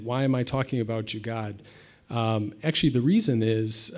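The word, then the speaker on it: jugaad: have different dialects that maybe the pronunciation in Northern India is a little bit different maybe it's closer to jugar uh but I'll stick with jugad uh for now uh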